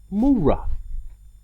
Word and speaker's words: Moreh: word number one and the correct pronunciation is mura mura and again we're we're